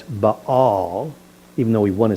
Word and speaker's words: Baal: we might say, it's whenever you see two vowels in a Hebrew word, you pronounce each vowel separately. That's why it's baal. Even though we want to say bao, it's baal.